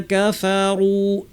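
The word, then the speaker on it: كفروا: রি, আল, আল্লি, আল্লাযী, ইন্নাল্লাযীনা কাফারু, নাতে টান নাই, না কাফারু না বলে সরাসরি কাফে চলে যাব, টান ছাড়া, খেয়াল করতে হবে।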